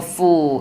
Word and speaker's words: fool: 그래서 배부를 때는 I'm full. 그 다음에 나는 바보 같아. I'm a fool. 이렇게 정확하게 짧은 발음은 짧게 긴 발음은 길게 발음하는 것이 생각보다 우리가 생각하는 것보다 훨씬 중요합니다.